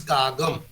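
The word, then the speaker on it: காகம்: What we say kaka in all Indian languages, in Tamil it is kagam, pronounced. Written as kaka, but pronounced as kaga.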